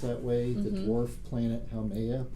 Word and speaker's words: Haumea: The dwarf planet Haumea, probably pronounced that way.